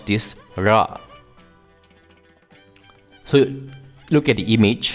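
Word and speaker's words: ழ: what you do is you simply roll the tip of the tongue in a curved manner as deep as possible into your oral cavity and you produce the nectar by releasing the tongue now an important note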